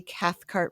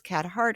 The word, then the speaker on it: Cathcart: almost no one does it's Cathcart and I say Cathcart really I'm enunciating that because people think it's catart or catart I'll spell it for